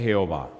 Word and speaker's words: Jehová: En realidad, cuando usted mira el nombre Jehová, solo encuentra 4 consonantes que no se pueden pronunciar. JHWH. Los judíos le pusieron una A y una E y diría Yahweh. Y los masoretas le pusieron una E, una O y una A que dice Jehová. Cuando los judíos llegaban a